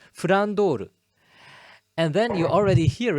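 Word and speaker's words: Flandre: just mixed up, because if you listen to the Japanese pronunciation, it's Frandoru.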